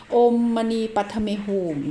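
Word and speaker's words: ॐ मणि पद्मे हूँ: นะ คะ ก็ คือ อัน นี้ เป็น ภาษา ทิเบต อ่าน ว่า โอมมณี ไป ใน whom ภาษา ทิเบต และ ถ้า เป็น สันสกฤต นะ คะ ก็ คือ โอม มณีปัทเมฮุม นะ คะ ก็ เป็น มนต์ ที่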